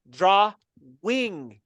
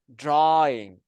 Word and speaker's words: drawing: T was published someone commented like you saying Dr Wing like draw and then Dash wing and I like how do you pronounce it and then I went to Google Translate and then drawing drawing I that's the problem of surrounding yourself